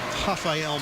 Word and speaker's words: Rafael: Evan admire with the lack of foot speed against the swiftfooted longlegged and that's two on Rafael Mayak. The R sounds like an H.